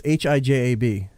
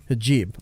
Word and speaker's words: hijab: How do you pronounce this? Hijab. Hijab.